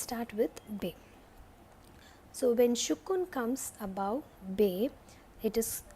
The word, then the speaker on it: Sukun: You have to pronounce it like S-U-K-U-N, Sukun. Yeah, Sukun.